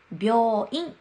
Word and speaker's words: 病院: です小さいよです病院をスピと病院と言いますそしてよく間違えやすいの